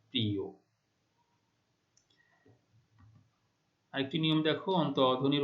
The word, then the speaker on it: প্রিয়: ঠিক আছে, তারপরে দেখো শেষে অন্তস্থ অ রয়েছে, তার পূর্বে ই ধ্বনি রয়েছে, তাহলে শেষের অ এর উচ্চারণ ও এর মতো হচ্ছে, প্রিয়।